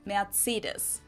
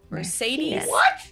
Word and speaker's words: Mercedes: countries is it okay how do you say Mercedes let's find out we pronounced matus so Mercedes versus matus I can't say so